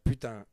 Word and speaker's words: putain: We have, in French, we have putain, which is equivalent of the F word. Oh, well, you can say that. But When putain, people we Well, can it say doesn't it.